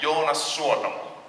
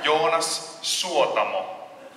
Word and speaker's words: Jonas Suotamo: You pronounce every word in Finland. There's no Finnish has no silent letters. No. We don't silence our letters. We want it all in there. Every letter counts.